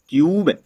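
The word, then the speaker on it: cube: तो यहाँ पर देखिए दोस्तों क्या लिखा है, देखिए वर्ड्स का प्रोनाउंसिएशन क्या निकलता है, सी यू बी ई क्यूब, टी यू एन E tune, M यू टी E mute, you का उच्चारण निकलना है दोस्तों।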